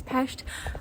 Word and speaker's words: Pest: By the way, in Hungarian, the city Budapest is Budapest, and Pest is pronounced peshed.